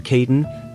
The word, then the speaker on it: Caden: 15 minutes later, a man who introduced himself as Mr. Caden, pronounced to rhyme with maiden, shook her hand.